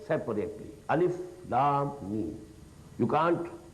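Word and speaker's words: الم: Every letter you have to pronounce separately.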